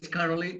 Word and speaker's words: Karoly: okay let's start so my name is carly okay but we pronounce it basically in hungary i'm originally from hungary